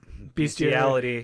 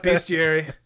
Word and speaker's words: Bestiary: I also have Life Crafters, Bestiality. No, Bestiary. Don't say it like that.